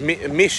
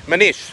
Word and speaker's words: Manish: It's pronounced Mish, isn't it? Mish? Mish? Manish. Manish. Manish. That's right.